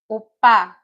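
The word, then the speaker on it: 오빠: Some of you may know this word, opa, o, then pa, opa. So what you're seeing there is the first syllable is the o syllable. It's a two-syllable word, opa, opa.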